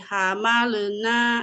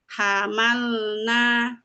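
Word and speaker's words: حملنا: Ditahan dulu sebentar. Soalnya kalau nggak ditahan dulu nanti suka tawalud, memantul. Jadi ada beberapa anak bacanya hamalena gitu. Jadi hamalena. Nah, itu contoh yang salah. Jadi yang betul itu hamalna, hamal.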